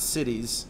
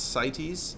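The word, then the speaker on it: CITES: c so it's not cities it's SES it's you pronounce it as if the I is a y uh and it's it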